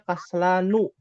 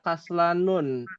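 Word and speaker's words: كسلان: Kaslan itu dibacanya kaslanu. Ya. Kaslanu. Ya, tidak boleh dibaca kaslanun.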